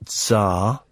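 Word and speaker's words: czar: it well hounds of zarar how do you say c z a r says t z a r is Zar so You' sent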